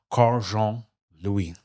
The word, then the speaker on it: Karl Jean Louis: Haiti to the UN to Kegali, my guest Carjon Louie.